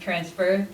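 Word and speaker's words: XFR Collective: preserving audiovisual material the transfer collective which is pronounced transfer is an organization i work with outside of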